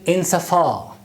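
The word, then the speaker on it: insofar: The next word is insafar. Pronunciation of this word is insafar. Long vowel at the end of the word.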